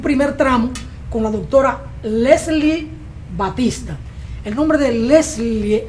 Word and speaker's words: Leslie: me cuesta mucho pronunciarlo se escribe Leslie pero se pronuncia lesli eh as que vamos a conversar con la doctora lesli Batista médico veterinario quien se